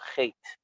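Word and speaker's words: חטא: And the Baal Shem Tov says that's why the word chait, we don't pronounce the aleph.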